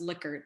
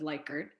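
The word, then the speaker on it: Likert: a cousin of the man that this is pronounced licker instead of leicard um but uh should you allow a neutral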